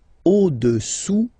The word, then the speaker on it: au-dessous: Le cube est au-dessous du cylindre. Okay? Au-dessous, final S not pronounced, du cylindre.